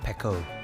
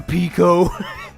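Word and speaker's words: Peko: It's pronounced Pecco. Filthy man. Whatever, Pico.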